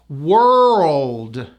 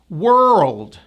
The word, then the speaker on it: world: Even though the word is spelled with an O, it has that tight vowel. Notice I go up, down. Say this word for me. Were. Okay, so you say were, then you go to an L and a D.